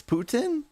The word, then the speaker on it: Putin: It's Putin.